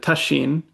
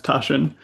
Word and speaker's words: Tasshin: and then Tasshin, in Japanese, you would pronounce it Tasshin. And I mispronounce my own name as Tasshin, and because I'm an American.